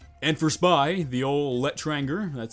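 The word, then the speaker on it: L'Etranger: a game changer and for spy the old let tranger that's how you say it does give cloak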